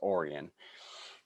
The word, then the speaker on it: Orion: to the quad cities it's spelled like orion like the stars but it's uh pronounced orion so i moved to